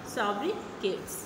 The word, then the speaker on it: sobriquet: चलिए हम लोग पढ़ते हैं सोब्रिकेट्स. Pronounced as सोब्रिके. Pronounced as सोब्रिके. सोब्रिके सोब्रिके के रूप में उच्चारण एक उपनाम है.